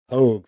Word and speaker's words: Pogue: Pogue rhymes with rogue.